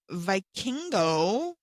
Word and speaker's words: Vikingo: Um, Vikingo, is that his name?